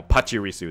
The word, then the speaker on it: Pachirisu: keep saying it wrong but I'm getting now Pachirisu don't go back they'll never say it the